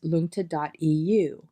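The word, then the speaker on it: luangta: throughout the book and that web address is lunta.eu and that's spelled l-u-a-n-g-t-a dot e-u then just click on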